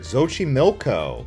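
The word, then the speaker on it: Xochimilco: starting out here at zoi milco the x is pronounced like a sh it's essentially a floing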